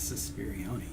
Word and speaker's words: Suspirione: The next person in line is Suspirione. Suspirion C. Remember, Like it rhymes with Beyonce.